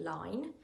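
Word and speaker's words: ligne: So 1/2 inch buttons are 12mm buttons, which is a 20 line. And so line is the how we measure buttons. It's spelled L-I-G-N-E. It's a funny word. I think it's a French word actually.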